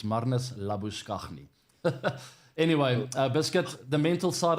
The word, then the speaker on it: Labuschagne: Marnus Labuschagne. That's how you pronounce it, by the way. It's not Marnus Labuschagne. I know he likes to go by that name these days, but he'll never be Marnus Labuschagne in South Africa.